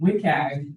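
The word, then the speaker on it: WCAG: Yeah, we we're calling it WIKAG, which is a terrible acronym to pronounce out loud, but um anyway, uh that's how a lot of people are referring to it these days.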